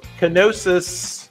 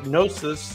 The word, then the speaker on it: Knossos: This is the Palace of Knossos, or Knossos, depending on how you pronounce that.